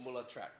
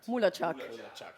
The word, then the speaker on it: Mulatschag: Yeah, it's MULATSCHAG. MULATSCHAG.